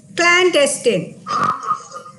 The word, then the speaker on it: clandestine: from uh french and the pronunciation is clan testing pseudonyms and antonyms synonyms